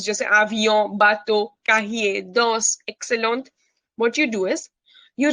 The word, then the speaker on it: excellent: Excellent. Excellent. जिसे हम comment बोलते हैं ना, comment. Okay, okay. C-O-M-M-E-N-T, comment. So वैसे ही excellent. Excellent. Okay, understood? Yeah, excellent. T नहीं pronounce करना.